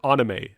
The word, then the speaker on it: anime: about Japanese animation or anime again some people pronounce it in the United States anime in Japanese the A's are long so it's an ah sound so animate again either